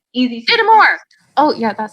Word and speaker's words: Dittemore: I want to make sure I pronounce it correctly. Dittemore. It's easy. Dittemore.